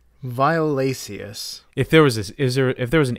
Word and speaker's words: violaceus: No, because there's an E. The C followed by an E makes it a soft C. Violaceus.